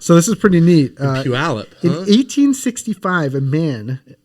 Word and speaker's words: Puyallup: Are you familiar with the area Puyallup? Puyallup.